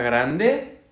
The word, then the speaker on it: grand: Para un oído de habla española, la A nasal puede parecerse mucho a una O. Grand. No es una gran, es una grand. Parece mucho una O un poco abierta.